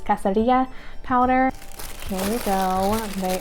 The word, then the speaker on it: cascarilla: That sounds like super white girl of me, but it's, Elena said that it was pronounced, or you pronounce it as it would be pronounced in Spanish, which is cascarilla powder.